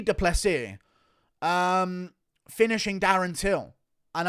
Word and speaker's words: Du Plessis: and I can see du plessis sorry I need to pronounce his name correctly here I can see de plessis um finishing Darren's Hill